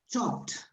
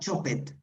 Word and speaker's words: chopped: And be careful with the pronunciation of some EDs, like chopped. not chopped. Chopped.